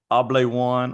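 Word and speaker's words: Hable One: to represent called the able one or I think I I call it the able one because it's h-a-b-l-e and I just think the H is silent and then o-n-e able one and it's a device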